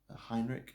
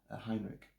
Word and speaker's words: Heinrich: And I should say this is translated by Ari Larissa Heinrich. Heinrich, I should say. I always say that name wrong. Heinrich.